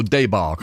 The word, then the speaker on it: debacle: but I heard somebody how do you say debacle not I'm leading you here Mark debacle or some people go daybark although and it's it's French and origin of course it is